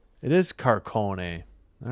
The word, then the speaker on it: Carcone: It is Carcone.